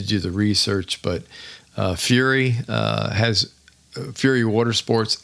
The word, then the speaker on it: Fury: sa B AO and fury which one of our good friends pronounces uh furry which we always thought was hilariously funny but it's fur y yes so Fury um check them out